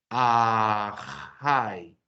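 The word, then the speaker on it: אַחַי: Si leemos esta palabra diríamos ajay.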